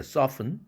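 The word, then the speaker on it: soften: 단어 글리스튼, 또 패스튼, 글리스튼이 아니라 글리슨, 패슨이죠. 소프튼이 아니라 소픈, 헤이스튼이 아니라 헤이슨, 자음 철자가 그 은 앞에 있는 이라는 철자는 무조건 여기서 발음 탈락입니다. silent letter입니다.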